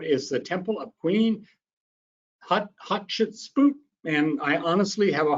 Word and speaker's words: Hatshepsut: And he said, for Queen Hatshepsut, just say hot chicken soup.